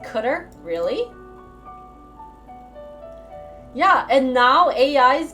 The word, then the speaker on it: cdr: isn't that crazy cdr is pronounced cutter really yeah and now